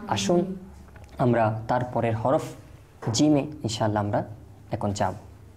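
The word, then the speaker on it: جيم: আর শুধু জিম নয়, বরং জিমের সাথে আরও দুইটি হরফ রয়েছে, শিন ইয়া। অর্থাৎ জিম শিন ইয়া এই তিনটি হরফ একই জায়গা থেকে উচ্চারণ হয়।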